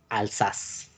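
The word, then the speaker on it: Alsace: también no alzas ok la pronunciación es alzas buzio ley la región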